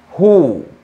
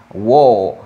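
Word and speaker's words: who: la última palabra interrogativa cuya pronunciación es ju ju a veces los estudiantes tienen a confundirse o tienden a pronunciarlo incorrectamente dicen wow wow wow de pronunciación is you como una jota con un jugo aquí es igual significa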